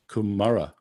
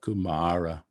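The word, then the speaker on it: kumāra: the third word kumara notice that the first of the two a's is a long a so that is not kumara if it was a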